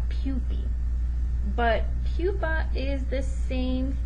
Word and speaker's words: pupae: referring to one but if you're talking about two or more so plural we would pronounce that pupi but pupa is the